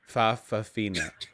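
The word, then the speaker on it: fa'afafine: Fafafina. The the comma is pronounced a lot of people get that wrong.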